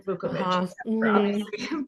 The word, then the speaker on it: Vuković: fact that nobody seemed to be able to pronounce my surname vukovich people who who know that part of the